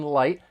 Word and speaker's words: light: So the final T in light, it comes between two vowel sounds, so you're going to hear me pronounce it as a flap T. It's going to sound like a soft D.